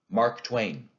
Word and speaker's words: Mark Twain: be an i am when we say that name in english we give stress to both the syllables two syllables in a row so it's mark twain that's a spondy west hill don't look